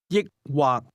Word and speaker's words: 抑或: This word is pronounced with a combination of high and low level tones. Say or. 抑或抑或 Try to ask, do you want to drink beer or wine?